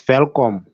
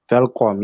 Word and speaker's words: Welkom: When you said welcome, is that WELKOM in English? Yes, it's Velkom. Gotcha. It is pronounced Velkom, yes.